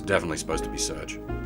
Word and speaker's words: Serge: back end okay it's definitely meant to be surge because in Japanese it's it's uh ceruju I thought it might have been yeah like Sergey because you can have the gear that's also a valid Japanese character but yeah it's definitely